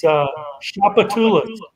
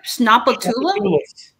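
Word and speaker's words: Tchoupitoulas: This is the most important street in New Orleans, and it's Shapatulis. And it's the name of a native tribe in South Louisiana. Wait. What was that again? Shapatulis.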